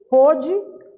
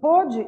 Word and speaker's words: pôde: Porém, na hora de pronunciar, o som fica diferente dependendo do acento diferencial que eu coloco.